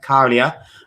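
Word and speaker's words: Käärijä: to a close and Carlia uh that's how you say his name Carlia has one with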